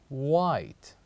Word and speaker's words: white: the sixth word is white White so what is the silent letter here with the word white as letter h letter h so here